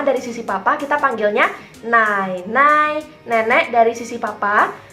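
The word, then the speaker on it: 奶奶: Yang pertama dari sisi papa, kita panggilnya nai nai, nenek dari sisi papa. Nai nai, nenek dari sisi papa. Mamanya papa kita bilangnya nai nai. Nai nai.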